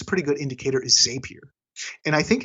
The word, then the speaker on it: Zapier: And it's Zapier, right? Happier. It's Zapier. It's pronounced like rapier, from what I understand, like the sword.